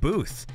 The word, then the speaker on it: Both: last name yeah cause it's spelled both but it's pronounced like booth and he says don't